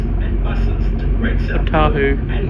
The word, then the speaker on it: Ōtāhuhu: Bit of a Change here for Eastern Line trains and buses to Great South Ōtāhuhu, and it's Market. pronounced, not Ōtāhuhu.